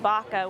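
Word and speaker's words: vaca: up and he was saying Baca which is how you pronounce cow in Spanish and so little connections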